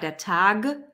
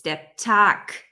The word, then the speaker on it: der Tag: Okay, it's not der Tag, it's der Tag. So at the end of a word, when there's a B, it's pronounced like a P. When there's a G, it's pronounced like a K.